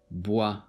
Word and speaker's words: bois: in this word the OI is pronounced as WA. Loi. Bois.